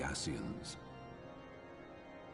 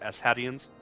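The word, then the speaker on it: Ascian: you know of the asiens well first it's pronounced asadian much and more I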